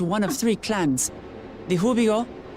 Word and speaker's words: Hubigo: The Hubigo. Oh, so they don't pronounce the G's.